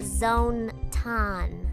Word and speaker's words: Zone-tan: mascot, Zontan, It's pronounced Zone-tan.